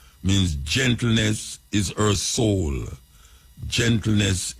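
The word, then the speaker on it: Eshe: Means gentleness is her soul. Gentleness is her soul.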